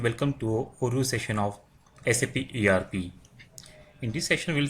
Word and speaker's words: SAP: It is pronounced as individual letters SAP.